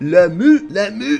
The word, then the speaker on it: Lamu: That would be the province of Lamu. That's exactly how you pronounce it, in case you're wondering.